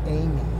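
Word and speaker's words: Aimee: Aaron's wife, or Aaron's, excuse me, sister, her first name is Amy, okay, and it's spelled A-I-M-E-E, like AIM, okay, so not the traditional spelling.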